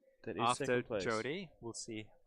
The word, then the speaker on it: Jode: 2 sub 10 singles by Jode Brewster. Sorry, Jode. I should say Jode. He always says it's pronounced Jody, but I know he means Jode. Yep. Jode Good Brewster. old Jode. It rhymes with toad.